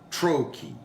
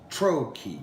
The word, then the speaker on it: trochee: Trochee it helps sound like the stress. It's trochee, trochee. So it's the stress syllable at the beginning of the word followed by an unstressed syllable.